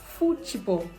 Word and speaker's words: futebol: In Brazil, football is futebol. Futebol. That's the pronunciation because they pronounce TH as chi.